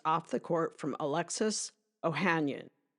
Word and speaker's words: Ohanian: Virginia got a major boost off the court from Alexis Ohanian. Or Ohanian, depending on which pronunciation guide you follow.